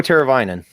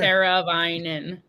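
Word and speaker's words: Teräväinen: Teravainen. Yeah, it's just the AI in the middle of the name that throws people off. Who don't know. Because you wouldn't try and say like the I for it.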